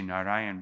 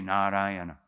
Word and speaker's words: Narayana: said the name Narayan sometimes we say Narayan but because it says four syllables here we must say narayana okay sometimes devotees chant